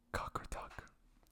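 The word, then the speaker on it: Qaqortoq: And the specific name is Cockeruck.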